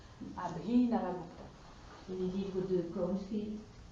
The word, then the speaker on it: Abhinavagupta: J'ai parlé de Abhinavagupta, oui, qui est un philosophe du Cachemire. Comment tu écris ce nom? Abhinavagupta. C'est comme ça se prononce, mais c'est avec BH. Abhinavagupta.